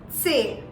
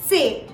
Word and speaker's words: C: book all right then c in german is pronounced as say say if you pay very close attention to the pronunciation there is a slight short t in the beginning of the pronunciation which is very essential to sound more german all right so it's very